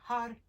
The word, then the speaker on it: Har: heartbeat when you say the word heart it's h-a-r and you're rolling the r's if you're unable to